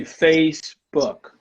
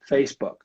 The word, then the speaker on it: Facebook: I know that usually Brazilian people like you and I add an epenthetic vowel, an extra vowel in there. And when I do that, I'm actually adding an extra syllable to it, so I'm not going to do that. So I'm going to say Facebook.